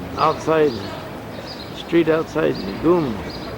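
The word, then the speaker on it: ГУМ: It's outside, street outside Goom. Gum's department store. It's pronounced Goom though, isn't it? Goom, like in loom? No, gum. We say gum and they say goom.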